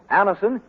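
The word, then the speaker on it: Anacin: the result ask your druggist for Anison today Anison is spelled a n a c i n listen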